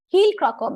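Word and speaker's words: Heijl-Krakau: The J is silent, heel-Croco method.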